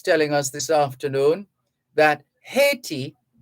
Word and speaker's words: Haiti: us this afternoon that haiti haiti or the french pronunciation aiti haiti reportedly wants jamaica to